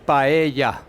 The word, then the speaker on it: paella: a vegan paella okay it is pronounced paella should we all practice